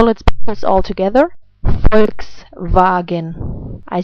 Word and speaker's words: Volkswagen: Volkswagen. I say it again. Volkswagen.